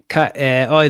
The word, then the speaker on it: Cahiers: Cahiers. Like the magazine Cahiers du Cinéma.